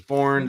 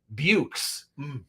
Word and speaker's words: Beaux: But Bo, Bo is how his name is pronounced. A lot of people have been asking because it's spelled Beaux. It looks like it would be pronounced Bukes, but it's just Bo.